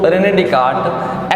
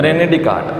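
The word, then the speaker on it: René Descartes: ऐसे साइलेंट है यहाँ पर, तो रेने डिकार्ट एक्चुअली बेटा ये मैथमेटिशियन भी थे, ये आपके फिलोसोफर भी थे और ये आपके साइंटिस्ट भी थे।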